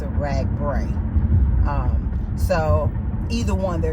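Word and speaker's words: RAGBRAI: goals and and and things associated with the rag bra event oh and um I know someone had mentioned that it's pronounced rag br when I started the ride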